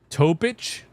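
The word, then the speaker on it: Topić: You pronounce it like yic. So it's Topic. Topic.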